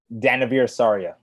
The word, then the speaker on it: Danavir Sarria: Well, pronounce it right for us. Danavir Sarria.